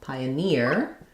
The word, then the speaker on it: pioneer: Pioneer, it has the tense E sound, so pioneer, we stress here on near.